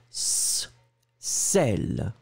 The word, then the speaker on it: sel: Le S très très fort. Sel, d'accord. Sel, S-E-L. Le deuxième ici, le B. Alors attendez, je vais vous le mettre comme ça. Donc le A, sel, très très fort. Le B, z, zèle.